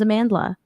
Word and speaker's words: Amandla: it like a valley girl my name is Amandla Amandla right she pronounces it like a valley girl and she